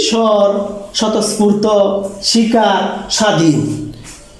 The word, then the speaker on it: স্বাধীন: এরকম ভাবে আছে কি স্বর, স্বতঃস্ফূর্ত, শিকার, স্বাধীন। তাহলে এখানে যে স্বাধীন লিখছি এটা স্বাধীন হয় না, স্বাধীন হয়। কেন? শব্দের প্রথমে যদি বফলা থাকে সেই বফলাটা সাইলেন্ট থাকে।